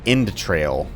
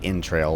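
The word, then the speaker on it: Endtrail: mess that up because you just say in trail like intestines but it's spelled with a d at the end of n so e-n-d-t-r-a-i-l they are a member of the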